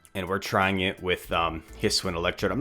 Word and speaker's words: Hisuian: I looked up how to pronounce that regional, the regional form for Electrode. And what I came across is some YouTubers that say Hisuian. So that's what I'm going to roll with. If you pronounce it differently, let me know in the comments.